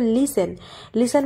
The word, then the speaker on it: listen: LISTEN লিসেন, এখানে দেখো টি এর উচ্চারণটা কি হবে না, আমাদের উজ্জ রাখতে হবে। তো এখানে যেহেতু পরপর দুটি কি আছে কনসোন্যান্ট আছে এবং সেক্ষেত্রে তার আগে একটি ভাওয়েল আই আছে, তাই সেক্ষেত্রে আমরা টি এর উচ্চারণ করব না, এখানে একদম ডাইরেক্ট আমরা বলবো লিসেন মানে কি কোনো শোনা,